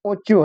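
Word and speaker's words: ocho: सीएच है तो उसको नोचे पढ़ेंगे और देखिए इधर दिया है फेचा फेचा है फिर ओचो है इसको कैसे बोलेंगे उसके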